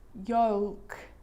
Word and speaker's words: yolk: because the letter L is quite difficult to pronounce in all of these words, even for a native speaker. Cold, yolk.